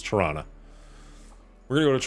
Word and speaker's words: Toronto: try that oh they still say torana like it that's there's a movie on Netflix right now called The Man from Toronto and everybody I know made fun of it because that's how they pronounce it like Toronto we're going to go to Toronto and it's like nobody